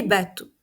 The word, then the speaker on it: bateaux: que c'est le pluriel attention je ne prononce pas le X un bateau des bâtau